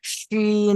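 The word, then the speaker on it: شين: Scene, তারপরে একটা শিন, মাশাল্লাহ, এটা চেপে বলবেন, শিন, মাশাল্লাহ।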